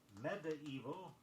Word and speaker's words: medieval: Preferred pronunciations of M-E-D-I-E-V-A-L make 4 syllables out of it, either medieval or medieval.